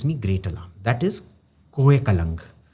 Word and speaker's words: Kolang: thing that gives me greater That is Ko Kalang. Kolang is this mountain extension of Natans. Ko Kalang. How do you spell that?